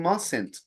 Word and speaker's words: mustn't: Para pronunciarlo hay como una E escondida, ¿ok? No tiene que Yes. pronunciar cada una de las letras.